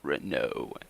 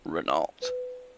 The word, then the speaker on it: Renault: It is pronounced Renault, not Renault.